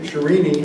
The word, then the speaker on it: Sharini: And, Marion Sharini, that's how you pronounce it in South Carolina, Sharini.